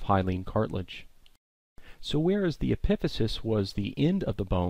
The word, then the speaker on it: epiphysis: So the first part of a long bone that you need to be familiar with is something called the epiphysis, or sometimes pronounced epiphysis.